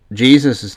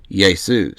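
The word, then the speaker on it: Ἰησοῦς: to Jesus right but Jesus's name wouldn't have been pronounced Jesus in Greek it would have been yesus so it been yesan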